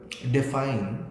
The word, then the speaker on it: define: The word define is an IM, है ना, क्योंकि define और D जो है वो unstressed है. With the unstressed syllable of D followed by the stressed syllable fine, define, तो iambic.